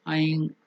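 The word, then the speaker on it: ऐं: That can be pronounced as Aing at the nose, nasal. Aing. Or if you are continuing it to the next word, you have to do it as Aing, nasal.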